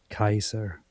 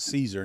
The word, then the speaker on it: Caesar: to point out that the accurate pronunciation back then for the Romans was Kaiser which is very close to the German word Kaiser which is directly adopted.